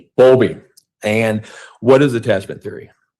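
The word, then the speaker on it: Bowlby: And it's and it's boundly I'm mispronouncing that. Bulby. Bulby.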